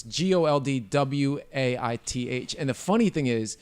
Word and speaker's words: Goldthwait: It's Goldwaith.